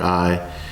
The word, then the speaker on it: Ai: a small Territory called I spelled the letter A the letter I pronounced I so then since that